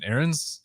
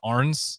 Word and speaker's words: Arns: It's like if you're American, you pronounce it Aaron's. Okay. German, that's why it's Arns.